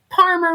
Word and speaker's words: Parmer: And remember, Parmer rhymes with farmer, but starts with a P like Paul.